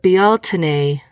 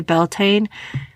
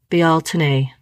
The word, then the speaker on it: Beltane: a little side note on Beltane it is pronounced a few different ways but be Alton a is the one that I found to be the most common even though it's okay to say Beltane be Alton a that's how we're supposed to say it it